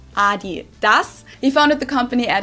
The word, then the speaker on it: Adidas: were referring to because they usually pronounce it Adidas and in Germany we say Adidas Adidas Adidas Adidas it's